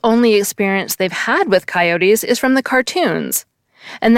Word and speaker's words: coyote: But I believe the 3-syllable version is actually the older version, since the word comes to English from the Mexican Spanish word coyote, which ultimately goes back to the Nahuatl word coyotl.